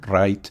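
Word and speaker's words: Wright: la historia de los hermanos W así se pronuncia Los Hermanos W son muy conocidos Ah si te gusta la Aviación tienes que conocer a Los Hermanos right Los Hermanos right son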